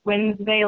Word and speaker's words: Wlnsv: And it's pronounced Wlnsvey, like Sunday.